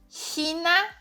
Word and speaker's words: China: Então, a língua atrás dos dentes inferiores é primordial para você conseguir chegar. A pontinha da língua tem que estar aqui embaixo, certo? Atrás dos dentes aqui. China, China, euch, euch, bisschen, bisschen. Então, essa posição da língua, ela é fundamental para você chegar nesse som.